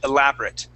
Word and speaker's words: elaborate: Okay, so we put the accent on the A and we say elaborate. Elaborate meals. Please repeat that. Elaborate. Elaborate. Elaborate meals. Elaborate meal. Okay, so that A at the end, instead of saying elaborate, okay, we actually just say it, elaborate.